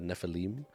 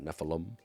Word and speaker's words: Nephilim: now I learned that it's pronounced the Nephilim, not Nephilim. Why would it be Nephilim? Such a gringo way to say things. Nephilim, it's a Nephilim.